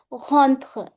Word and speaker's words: rentrent: E and T remain silent. So I'll say rentrent à la classe.